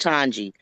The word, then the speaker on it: Twangie: It's pronounced Twangie. Twangie. Just like the number two, the Two. W is silent.